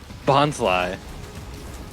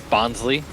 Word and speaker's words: Bonsly: Bonsly. Because Yeah. it's like bonsai. Yeah. How'd you think it was? Yeah. Bonsley.